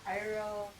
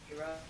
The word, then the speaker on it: Iroh: Sokka's name is pronounced Soka. Soka. Iroh, his name was also pronounced Iro. Iroh.